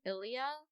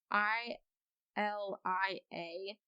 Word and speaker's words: Ilia: considered a makeup item it's from ilia that's how you say it i l i a ilia that sounds right um but it's a